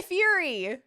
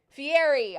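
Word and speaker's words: Fieri: I'm like where where is Guy Fury? Fiery. I keep I keep mispronouncing his name. Where's Guy Fiery?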